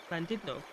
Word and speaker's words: Llandudno: For those of you who are clued in, you'll notice that I'm pronouncing Llandudno correctly.